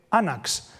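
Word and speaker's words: ἄναξ: Y en griego, alfabético del primer milenio, se dice anax, con la caída de esta W que ven ustedes aquí, que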